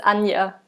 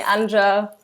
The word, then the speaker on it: Anja: i've got it right it's anya but you can you can pronounce it whatever way like people call me anja all sorts of things so whatever feels easiest anya it's easy um